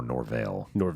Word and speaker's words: Norvell: No, I really do like Mike Norvell. Yeah. Or Norvell, where you put the stress on the syllable.